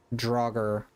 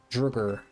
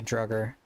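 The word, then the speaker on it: Draugr: The actual name is Droger. Dugger. Okay. Droger. Like the Skyrim enemies.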